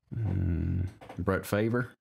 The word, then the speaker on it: Favre: Brett Favre. That's how you pronounce it.